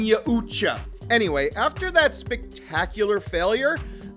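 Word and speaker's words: Yautja: race small tangent time in my last video i pronounced it yaucha which is how i have pronounced it for decades however there were a slew of comments saying i pronounced it wrong but the thing is every one of those comments had a different proper pronunciation it's a fake word from a comic book i'm saying yahucha anyway after that spectacular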